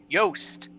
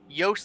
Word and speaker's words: Yost: It is Callie and Yost. Anyway. Callie like the player, Yost like the most.